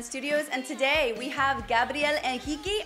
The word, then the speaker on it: Gabriel Henrique: and today we have Gabrielle and hiki I'm saying it the right way because he's Brazilian and that's how he pronounces it he for the first